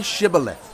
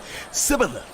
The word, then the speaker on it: Shibboleth: If he replied, "No," they said, "All right, say Shibboleth." If he said, Sibboleth, Because he could not pronounce the word correctly, they seized him and killed him at the fords of the Jordan.